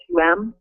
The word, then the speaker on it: Helichrysum: How do you pronounce the last one? Helichrysum is Helichrysum.